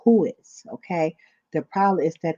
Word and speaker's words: WHOIS: you hide it from who is. You spell it WHOIS. I had to go to Google and type it in so I can make sure I pronounce it right. But it's called who is.